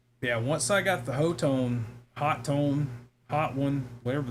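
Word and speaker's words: Hotone: So, hot one. Yeah, apparently the actual way you pronounce it is hot tone. They just forgot the second T.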